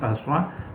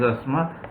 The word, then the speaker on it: asthma: Some people may not like me pronouncing asthma because we commonly pronounce it as asthma, but the correct pronunciation is asthma.